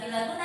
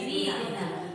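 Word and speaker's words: bighunnah: Idgham bi guna bukan bila guna tapi bi guna.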